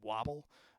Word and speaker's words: WBBL: And so this was two songs that I think you pronounce his name Wobble, WBBL.